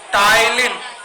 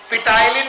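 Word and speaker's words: ptyalin: टाइलिन, पिटाइलिन नहीं, पी को silent करना है, टाइलिन पढ़ना।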